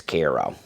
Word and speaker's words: Cairo: But as I'm driving through, it looks like it's spelled Cairo, but everybody says it's Kairo.